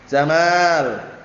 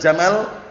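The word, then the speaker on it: جمال: Innallaha jamilun yuhibbul Jamal jangan pendek bacanya Jamal kalau bacanya Jamal nanti artinya keliru Innallaha jamilun yuhibbul Jamal pernah ada dulu bacanya gitu tapi keliru nanti artinya apa Sesungguhnya Allah Taala indah dan menyukai unta Kalau antum baca Jamal pendek itu onta artinya nanti tapi Jamal panjang beda apa cuman satu huruf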